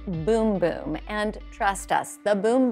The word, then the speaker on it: Bum Bum: looks like it says bum bum on the little jar here but in Brazil they pronounce it boom boom and trust us the